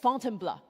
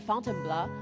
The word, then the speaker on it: Fontainebleau: So after Paris, Paul took me just outside the city to a forest park called Fontainebleau. This is how he taught me to pronounce, to try out our mountain filter.